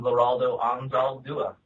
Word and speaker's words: Leraldo Anzaldua: Hey guys, I'm Leraldo Anzaldua. All right. And it just makes me happy to know that I've been getting it right this whole time. It's difficult, but it sounds exactly like it's spelled.